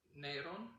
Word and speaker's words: Nero: The first generation is still, Judeo-Christian, but we know that the first persecution in Rome, it's Emperor Neron.